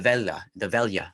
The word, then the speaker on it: Veglia: You have to, they call it the Velia. That's when, if you're of the blood, if you have the lineage, you can attend these. It's spelled Veglia.